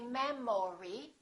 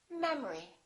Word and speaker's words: memory: we say economy economy look at this one the second syllable is reduced the first syllable is stressed we don't say memory we say memory repeat after me memory